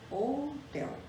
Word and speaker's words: hotel: Por exemplo, a gente escreve hotel com H, mas na realidade nós pronunciamos somente o O, hotel.